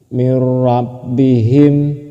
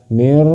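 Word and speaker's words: مِنْ رَبِّهِمْ: Nun mati bertemu dengan ro. Ron mati bertemu dengan ro. Maka disebut dalam bilagunah. Contohnya mirrabihim. Mirrabbihim. Seperti itu. Tidak usah dibaca mirbihim. Itu salah.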